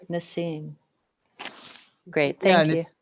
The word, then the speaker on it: Nassim: Is that how I pronounce it? This is what the book looks like. Nassim.